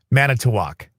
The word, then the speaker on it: Manitowoc: Manitowa? How do you say it? Anybody wants to? Manitowoc.